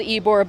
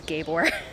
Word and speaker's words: Ybor: Tampa area of Florida so it's called Ybor but everybody everybody says Gabe or because it's spelt ybo are just like the title